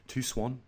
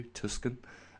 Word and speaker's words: Tucson: Another one went out to Tucson, I believe that's how you pronounce it, not like I usually do, Tucson, Arizona.